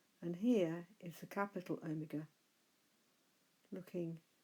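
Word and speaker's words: ἑ: Similarly, epsilon should be pronounced he.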